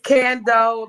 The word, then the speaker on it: Candu: It's Kendo, like farming out the Kendo. Sorry, like Kendo.